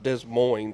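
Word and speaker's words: Des Moines: in uh Iowa uh Des Mo I believe in mo mo mo sorry we're pronouncing all the letters today I know I'm still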